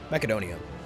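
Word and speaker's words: Μακεδονία: Don here's Macedon but in Greek you pronounce it makedonia so this is a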